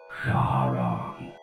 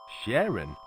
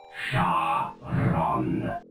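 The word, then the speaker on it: Charon: name my name is Shon Sharon that's a girl's name not Sharon you dard it's Shon that's c h a r o n Shon now you say it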